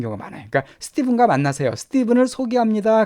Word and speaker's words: Stephen: 이건 스티븐이라고 발음해 스테판이 아니라 스티븐입니다. 자, 우리 meet Stephen 명령문이죠. 스티븐을 만나세요 그 뜻이에요.